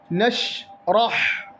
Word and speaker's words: نشرح: അലം നഷ്റഹ്, നഷ്റഹ് എന്നാണ് ഉച്ചരിക്കേണ്ടത്. നഷ്റഹ് അതില്ലെങ്കിൽ നഷ്റഹ് എന്നൊന്നും ഉച്ചരിക്കാൻ പാടില്ല. ഷീൻ ഖൽഖല അല്ലാത്തത് കൊണ്ട് നഷ് എന്നൊരു ഉച്ചാരണമല്ല അവിടെ വരേണ്ടത്. നഷ്റഹ് ഹായാണ്, അവസാനം ഹായാണ്, തൊണ്ടയുടെ നടുക്ക് നിന്ന് പുറപ്പെടുന്ന അക്ഷരം. അത് പ്രത്യേകം ശ്രദ്ധിക്കണം. ഹായും നഷ്റഹ് എന്നാകാൻ പാടില്ല.